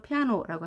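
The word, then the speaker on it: piano: 세라고 하는 겁니다 그러면 여기서는 a가 제일 힘이 세서 피아노 이렇게 발음을 합니다 피아노 우리는 그대로 피아노라고 하지만 영어는 피아노 높낮이가 생기는 겁니다 피아노 이번에는 CV c는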